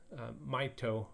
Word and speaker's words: Mahito: his name is pronounced maito mahito maito it sounds like the English word might which might be intended